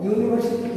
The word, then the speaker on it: university: University, U is the vowel. You know that vowel always takes what? Vowel always takes an. But here what happens? It pronounced as you.